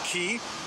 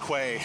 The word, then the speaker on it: Quay: I said I when I came and I knew that's key, but I said West Quay Quay Quay. If no one told me it would say Key, I would have pronounced that.